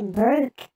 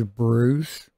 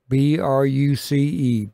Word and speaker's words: Bruce: all right my uh name is spelled with a c b r u c e Bruce not Brook I don't even sound